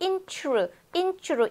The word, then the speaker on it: interesting: 그 다음에 발음을 하다 보면 interesting이 아니고 intru, intru 이 소리가 안 나요. 여기서 tr처럼 intru, interesting 이게 대다수의 원어민들이 내는 소리예요.